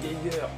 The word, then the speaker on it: Geiger: Ensuite, Geiger en VO, ça se prononce Geiger, en blanc cover, donc on s'en fout.